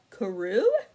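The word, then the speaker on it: Karou: how you say um i think curse is pronounced karoo it's k-a-r-o-u but i don't i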